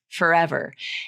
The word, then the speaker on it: forever: it in a word forever and maybe that's how you learned how to pronounce it but I just wanted to point that out f r for is often reduced to F so in the word forever